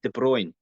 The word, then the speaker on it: De Bruyne: didn't we didn't we how did we pronounce his name it's de bruyne de bruyne isn't it yeah a voice De